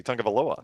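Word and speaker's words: Tagovailoa: Yeah, once you realize, like Tua very early in his starting said you've got to think of like the tongue as the first syllable, and then once you figured that out, you're like, oh, it's actually pretty easy.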